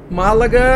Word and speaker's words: Málaga: Málaga a gente pronuncia como uma proparoxítona, só que no entanto em espanhol não tem acento.